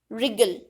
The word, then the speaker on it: wriggle: So in these words W is a silent alphabet.